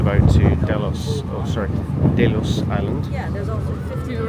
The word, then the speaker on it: Delos: This is our tender boat to Delos or sorry, Delos Island.